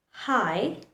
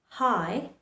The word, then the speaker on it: high: For example, in words like daughter, daughter, though, are high, high, these two letters, G and H, remains silent.